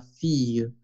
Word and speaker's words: fille: Pues muy bien la pronunciación de la doble L, pero la E es muda, fille. Bueno, a veces cuando exageramos un poquito, fille, así, pero es con la E francesa, ¿no?